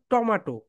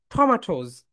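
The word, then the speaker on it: tomatoes: 1 কেজি বাজার থেকে টমেটো নিয়ে এসো, তাহলে এটা রাইট প্রোনাউন্সিয়েশন কি বলতো? ঠ, বলো ঠ, মাঠোজ, টমাটোজ, টমাটোজ। এখন থেকে টমেটো টমেটো বলবে না।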